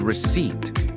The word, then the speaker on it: receipt: The second part is seat exactly like the word seat as in take a seat.